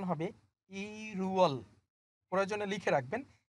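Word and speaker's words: 일월: বাট এখানে কথা আছে, আপনি যদি এখন এটাকে পড়েন ইল ওয়াল হবে না। কেন হবে না? ওই বাসিমের কারণে উচ্চারণ চেঞ্জ হয়ে যাবে।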